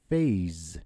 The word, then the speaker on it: phase: Okay, so for example, phase. You see an S between A and E, so there are two vowels surrounding S. So this S sound is pronounced as a Z sound.